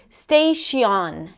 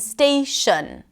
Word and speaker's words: station: For example, melody and holiday and station instead of melody, holiday, and station all had the same sound, the schwa sound.